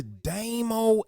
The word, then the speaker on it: Damo: Call me Damo, not Damo, be careful how you pronounce it.